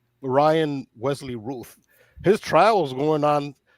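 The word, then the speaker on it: Routh: I thought his name was Ralph, but they pronounce it Ruth. Ryan Wesley Ruth.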